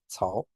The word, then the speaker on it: Cao: And then the C, Cao, that is like a TS, as an unusual pronunciation of the C.